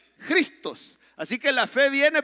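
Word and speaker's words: Χριστός: no lo crea y se pronuncia así mire con jota se pronuncia a ver dígalo conmigo se pronuncia cristos así que la fe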